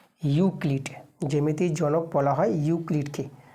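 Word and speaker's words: Euclid: এখানে যদি ইংরেজিতে তোমাদের লিখে দিই ইংরেজিতে নামটা উচ্চারণটা হবে ইউ ইউ ক্লি সি এল আইডি ইউক্লিড Bangla লিখতে পারো ইংরেজি লিখতে পারো যেটা তোমাদের সুবিধা হয় সেভাবে তোমার নামটা লিখবা।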